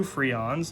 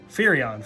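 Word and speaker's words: Firion: Hope Estum, we got two Freons. Let me put one and two. Furion. Furion. I've been saying his name wrong this whole time.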